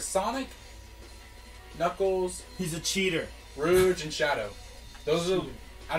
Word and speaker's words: Rouge: Knuckles he's a cheater rouge and shadow those are I don't know how to do how do you say Rouge you say Rouge I say Rouge Rouge yeah rude that's Rouge it's not Rouge Rouge your knees have